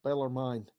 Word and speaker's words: Bellarmine: Beller Beller mine has is it mine or mean I think it's a long eye Beller mine I think Beller mine okay I think so well stin stinking bellermine is winning tonight with